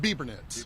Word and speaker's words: Bebernitz: And how do I pronounce that? Biebernitz. Biebernitz.